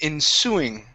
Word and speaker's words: ensuing: is the word okay ensuing the stress here is at the end of the word in the ensuing months